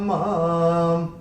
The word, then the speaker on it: माम्: Chant मां के ऊपर अनुस्वार चरण की समाप्ति पे आ रहा है, तो इसका उच्चारण केवल और केवल मां ही होगा।